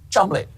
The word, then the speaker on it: Cholmondeley: Oh, sorry, I'm being told it's actually pronounced Chumley.